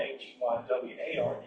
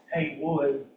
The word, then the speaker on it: Heyward: So, Thomas Heyward Jr., quote, Thomas Heyward, and he has it spelled Heyward, H-E-Y-W-O-O-D, even though it's spelled H-E-Y-W-A-R-D, because the southern accent sounds like Heyward, Heyward.